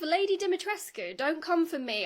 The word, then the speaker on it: Dimitrescu: Lady Dimitrescu. Don't come for me. I looked up the actual Romanian pronunciation. Capcom got it wrong. I'm probably also saying it wrong, but you do pronounce the ending.